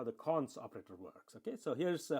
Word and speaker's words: cons: So when you say X double colon, okay, colon or double colon, I call it, okay, or cons, actually that's a better way to pronounce this. X cons XS, okay, that's how I should say.